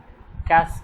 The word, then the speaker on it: cache: See, cache, it is cache memory, pronounced as cache.